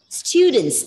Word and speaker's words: students: Students, okay? It's students. You have to, yes, you have to have a long U sounded, students.